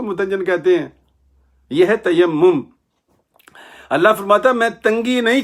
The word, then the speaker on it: تیمم: تیمم سے، تیمم سے، تیمم یہ صحیح تلفظ ہے۔ وہ لطیفہ یاد رکھنا